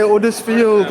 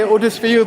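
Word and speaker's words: Huddersfield: We say Udersfield. Oh, we say Bradford. They say Udersfield without the H.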